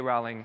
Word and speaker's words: Rowling: Rowling, or I think Rowling is the proper way to say it, or Queen Elizabeth?